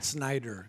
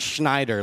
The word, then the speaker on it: Snyder: Snyder. It's not Schneider like SCH. Yeah, there's Schneider, but yeah, I'm the Snyder. It's like SNY.